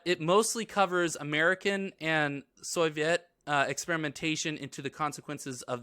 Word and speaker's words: Soviet: But it mostly covers American and Soviet experimentation into the consequences of these of the LSD experimentation.